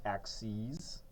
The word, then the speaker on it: axes: that doesn't say axes that word is actually pronounced axes the plural of ax6 um we'll get a